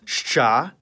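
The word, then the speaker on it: Ш: seen this symbol before it's a letter in the cerlic script sha and like its name it makes the sound sh see how it kind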